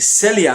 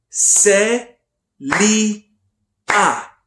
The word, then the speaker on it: Celia: syllables do you think Celia has say Li ah three three syllables usually the number of